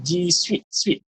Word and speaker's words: G Suite: Jadi sebenarnya pronunciation is G Suite. Sweet dia G Suite bunyi dia.